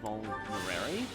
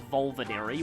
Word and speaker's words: Vulnerary: I think I'll have Sylvain use a Vulnerary, which I used to pronounce Volvinary when I first played Fire Emblem 7.